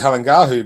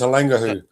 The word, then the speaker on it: Halangahu: We thought it was Halangahu, but it's Halangahu.